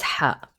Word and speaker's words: ح: So ha is a voiceless brey sound and it doesn't have an equivalent uh in English. Now uh it's very similar to the uh h but if I can if I can describe it it's going to be a strong whispered h. Okay. And it's a it's deeper. is pronounced deeper from the throat.